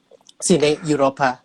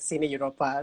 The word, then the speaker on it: Cine Europa: inception of sydney europa i mean sydney europa i mean i have to pronounce it correctly like cine europa not to confuse it